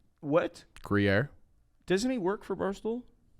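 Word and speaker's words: Gruyère: How do you pronounce the French cheese that's in French onion? Gruyere. What? Gruyere.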